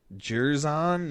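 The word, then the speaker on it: Jer'Zhan: Jerzon Newton. JER''ZHAN Newton.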